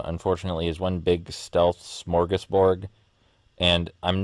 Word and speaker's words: smorgasbord: with also yes i know the word is smorgasbord i'm aware that's how you say it i'm